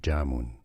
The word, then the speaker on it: Jamun: It's Jamun! Stresses on the first syllable. Jamun.